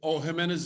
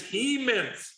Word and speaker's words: Jimenez: Well, Jack, Jimenez is not a Class A yet, right? Correct. Okay. Scotty, and it's Hemans. You keep saying it wrong.